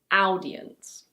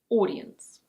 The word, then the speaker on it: audience: It's not "ow-dee-ence". In British English it's: audience.